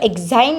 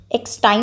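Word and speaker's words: exine: Because ये जो एक्साइन layer होती है, एक्सटाइन नहीं एक्साइन होता है।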